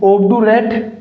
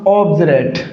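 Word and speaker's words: obdurate: ऑबडरेट नहीं दोस्तों इसका प्रोनंसिएशन क्या होगा? ऑबडुरेट नहीं होगा। क्या होगा? ऑब्जरेट। ऑब्जरेट। इसका उच्चारण क्या होगा साथियों? इसका उच्चारण ज होगा। क्या होगा? जय। क्या हो जाएगा? ऑब्जरेट।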